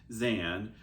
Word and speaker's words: Xan: so the first is zan crazy band lady stitches uh and her um zan is spelled with an x and she is amazing